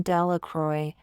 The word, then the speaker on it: Delacroix: Bobby and Harry Jones and Dickie Delacroix, the people in the town pronounce his name Delacroix, make a very large